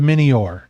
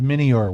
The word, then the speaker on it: Mynnior: he uh well he says welcome to the minor and that's the name of his ship is the minor which in anua means my honor m y